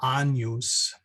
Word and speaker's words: Agnus Dei: And then the other two fun ones is when you see a GN, like the Agnus Dei, that GN becomes like an NY sound. So as in canyon.